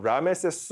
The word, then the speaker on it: 라메세스: 아멘게 사랑받는 자라는 뜻입니다 실제 람세스의 원래 이집트식 발음은 라메세스 메리아멘이라고 기억을 해두시면 좋을 것 같아요데 정말